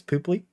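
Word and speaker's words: Pöpli: When we were at Pooply 9, the O is pronounced like that. It's Pooply.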